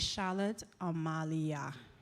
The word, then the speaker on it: Charlotte Amalie: And colleagues, when you call the name of the school, it is Charlotte Amalia. Okay? Put some respect on it.